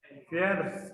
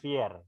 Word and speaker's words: fierce: Bukan fear. Fierce.